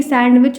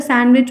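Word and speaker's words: sandwich: कौन सा साइलेंट है आपको पता है की सैंडविच नहीं होता सैंडविच होता है दी साइलेंट है उसके बाद विच लट्टिस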